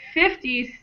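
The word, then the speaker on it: fifty: and 40 50 60 has the stress on the first syllable.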